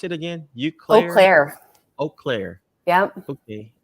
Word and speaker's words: Eau Claire: have a family and uh how do you pronounce it again you close earlier eau claire yep okay eau claire uh in wisconsin yep hello wisconsin bet everybody